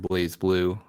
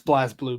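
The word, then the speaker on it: BlazBlue: I was also a fan of playing Guilty Gear and Blaze Blue on the PlayStation 3. Yeah. It's Blaz Blue, by the way.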